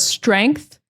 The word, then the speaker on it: strength: That TH is pronounced like a TH. So if you struggle with the TH sound, you're going to struggle with words like this.